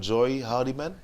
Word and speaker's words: Joy Hardiman: Joy Hardiman? Did I pronounce it properly? Pronunciation, that's correct. Correct.